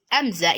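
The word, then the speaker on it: همزة: Alif, as I said in the last video, is pronounced as a, while Hamza is pronounced as a.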